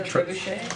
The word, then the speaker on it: trebuchet: Pat, the mechanism again, how you pronounce it? Oh, the trebuchet.